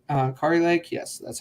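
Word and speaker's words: Kari Lake: think Sam Brown's a guarantee I would say car Lake uh Ki Lake yes that's how you say it um I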